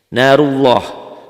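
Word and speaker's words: نارُ اللهِ: Narullah, bacanya seakan-akan ada w-nya ya. Narullah, jangan narullah. Narullah. W-nya ada tapi sekedar lewat doang.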